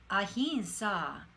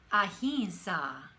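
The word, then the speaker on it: ahimsa: these yama yama then the yamas now start ahinsa ahinsa and satya satya okay are there any questions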